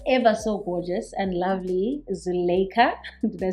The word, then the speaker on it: Zulaikha: Today we've got the ever so gorgeous and lovely Zulaikha.